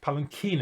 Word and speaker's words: palanquin: Yes, palanquin is actually the way it's pronounced.